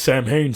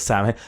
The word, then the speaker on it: Samhain: And I remember watching the episode, and he was like, "Oh, it's Sam Hain, Sammy.